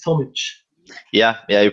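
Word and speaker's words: Tomić: we have tomich with us right it's tomich yeah yeah you pronounce it correctly yeah nice nice and he's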